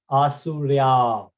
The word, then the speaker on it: Asurya: So for example, when we have a dash on A, we pronounce it bit high pitch and for long. So this is Asurya.